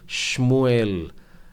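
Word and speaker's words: שמואל: परंतु एक छोटा सा सुधार उच्चारण में बताऊं, हम लोग इसे शमूएल की पुस्तक जो कहते हैं वो शमूएल, इस प्रकार से आपको उच्चारण करना होगा, शमूएल।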